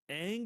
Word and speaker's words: Aang: The worst part of the whole movie is you can't even pronounce it right. because remember he's trying to sell this to China at the time, right? He's like, Yeah. so Ong is Bitch, it's they call him Aang over there it's, too, motherfucker.